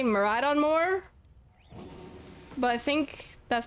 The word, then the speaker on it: Miraidon: Miraidon definitely is pronounced with the middle syllable, like with it being like ride on.